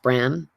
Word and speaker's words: Bran: called Caer Bran, and it has an E on the end of Bran, so it's sort of Brne, but it's pronounced Bran.